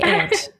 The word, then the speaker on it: aunt: know what to say I say ant ant but ant is a bug it's an insect let's get it from cat how do you pronounce it I say anunt there you go everyone's wrong but it's okay it's one